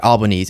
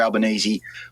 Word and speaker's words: Albanese: Albanese and his center-left Labour Party appeared to have